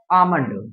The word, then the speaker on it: Almond: अब जैसे आप क्या समझते हैं, लोग आलमंड बोलते हैं ना, आलमंड कौन, बादाम, आलमंड नहीं होता, होता है आमंड, Almond. आमंड होता है।